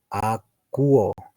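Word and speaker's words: ἀκούω: Lo que están viendo en mi pantalla con rojito, ese es el verbo akuo, así es, akuo. Pronúncialo recordando que la O y la U se escucha como una U.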